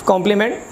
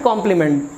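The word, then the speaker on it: compliment: अक्सर आप लोग सुनते होंगे, थैंक्स फॉर दिस कॉम्प्लीमेंट, इस सम्मान के लिए धन्यवाद। सो कॉम्प्लीमेंट एंड कॉम्प्लीमेंट pronunciations are same, इनके उच्चारण बिल्कुल सेम है।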